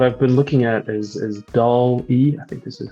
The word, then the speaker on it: DALL-E: What I've been looking at is DALL-E. I think this is how it's pronounced, DALL-E.